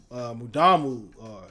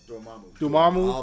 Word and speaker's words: Dormammu: It compensates for its flaws because the Mudamu, how you pronounce his name? Dormammu.